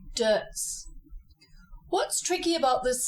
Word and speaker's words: Deutz: now it's just dirt in German you would say dots but we are talking about champagne which can only be made in the champag region of France so you follow the French pronunciation and you say dirs what's tricky about this